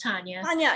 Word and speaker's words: Tanya: first of all my name is tanya it's pronounced tanya yes sorry and um tanya i